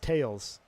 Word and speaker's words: Thales: So Thales is pronounced tails. Thales. Oh, Thales? It's pronounced Thales. Thales? Like Thales? I'm going to call it Thales just to make sure everyone knows I'm not French.